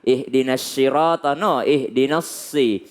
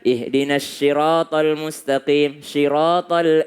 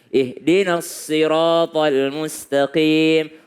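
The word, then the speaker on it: الصِّرَاط: Sama dengan ketika membaca Al-Fatihah. Ihdinas sirata, ihdinassi. Lebih dekat kepada huruf sin dibandingkan huruf sya. Ada orang membaca ihdinas siratal mustaqim. Salah. Ihdinas siratal mustaqim.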